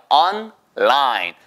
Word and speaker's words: online: 근데 발음 하나만 주의하세요. 절대로 온라인, 아, 온라인, 아, 다 아니에요. 한국어의 자음 접변이 적용된 케이스예요. 그래서 그건 on까지 하시고요. on. 머릿속에서 on은 나오겠구나. 내가 랄랄랄라만 해야 되겠구나. online. 보세요. online.